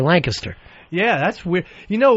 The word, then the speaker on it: Lancaster: From down here in Lancaster, Pennsylvania, everybody says Lancaster. Yeah. People come in, they'll go, "Uh, oh, you're going up to Lancaster." But then the people that live there say Lancaster.